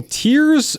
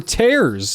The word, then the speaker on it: tears: a bottle of dimensional tears or tears. I think it can be either. It says rhymes with scares, but I think sometimes it'll say rhymes with fears, so it can be both.